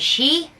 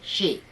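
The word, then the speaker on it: Xi: his first name is she that's how it's pronounced spelled x i pronounced she i am not chinese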